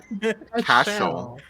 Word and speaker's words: Cashel: Cashel, Cash, like money. Shell, like seashell.